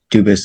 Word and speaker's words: Dubus: Dubus is the English pronunciation. Dubus is the original French.